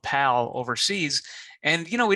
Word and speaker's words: PAL: format of VHS called pal overseas and you know we don't delve into those videos I thought it might be a good excuse to do that and uh pal rhymes with Val and Valentine's Day that's